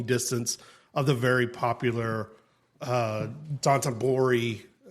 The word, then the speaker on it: Dotonbori: of the very popular Dotonbori. Did I mispronounce it? No, I think that's how you say it. Dotonbori.